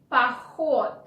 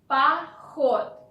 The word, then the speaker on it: поход: H, поход. Then first O is not stressed, so you want to pronounce it like A. Поход.